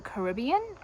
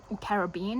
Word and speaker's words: Caribbean: on Pirates of the Caribbean, or Caribbean, however you want to pronounce it.